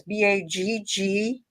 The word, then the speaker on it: Baggallini: How do you spell that? I've never heard. Bagolini. And here it is. This is called Bagolini. It's Baggallini.